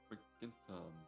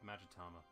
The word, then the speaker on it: Magatama: It's like, god damn it, in my head was always like Magenta. The color was like, no, it's absolutely not. It's pronounced the Magatama.